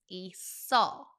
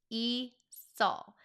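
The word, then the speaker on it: 있어요: Notice how the seu carried over to the second syllable and that's why we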